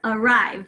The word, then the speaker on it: arrive: So let's keep going, arrive, right, arrive. So we hear that schwa in the first syllable, spelling it with an A.